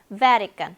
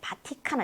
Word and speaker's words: Vatican: 왜냐면 강세가 ve에 있기 때문에 나머지는 정말 성의 없이 발음을 해야 돼요. 어쩜 저렇게 성의가 없을까? Vatican. 네, 바티칸 아니고 Vatican.